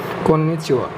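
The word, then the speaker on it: こんにちは: কন্নিচিওর বেলায় এটার উচ্চারণ ওয়া হবে, এবং পার্টিকেলের সাথেও পার্টিকেল যখন আপনি পার্টিকেল দেখবেন তখন দেখবেন আপনি হা না, এর উচ্চারণ হবে ওয়া।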